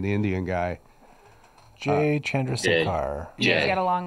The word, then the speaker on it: Chandrasekhar: And Jay Chandush. How do you say it, Aaron? Chandrasekhar. Chandrasekhar. That's good.